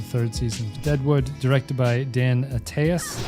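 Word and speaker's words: Dan Attias: It's the second episode of the third season, Deadwood, directed by Dan Ataas, I believe this is how you say it, written by David Milch and Regina Curado.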